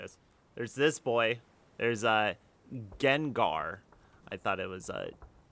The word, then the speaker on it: Gengar: There's Gengar. I thought it was Gendar. I guess you could pronounce that as Genjar.